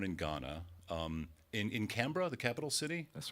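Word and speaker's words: Accra: although you're born in Ghana um in in CRA the capital city that's right am I pronouncing that correctly you are CRA okay very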